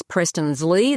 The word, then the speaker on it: Preston Zly: So, that's our website and Instagram is Preston's Lee. That's how you say it.